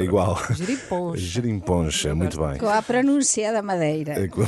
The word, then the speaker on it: gerinponcha: uma nova geringonça, a quem já apelidaram de gerimponcha ou pangonça. Eu não sei qual é que vocês gostam mais, refaço a pergunta, mas a questão é igual. Gerimponcha.